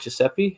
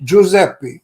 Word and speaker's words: Giuseppe: Giuseppe? Giuseppe.